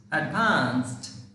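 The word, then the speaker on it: advanced: এডভান্স এডভান্স এটা এডভান্স এডভান্স এডভান্সড এডভান্স এইটা হবে এইটা এডভান্সড দেখো এখানে ডি আছে ডি এর উচ্চারণটা কিন্তু টি হয়ে যাচ্ছে এখানে এখানে এই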